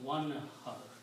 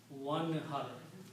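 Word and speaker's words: وانحر: When you put a waw in the beginning, then you do not pronounce the alif, you pronounce one har. That's the word in the Quran, one har.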